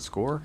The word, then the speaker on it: SCORE: Cockle come up, please, to just talk about, I don't even know if you say, is that SCORE, Andrew? You Yeah, pronounce that SCORE.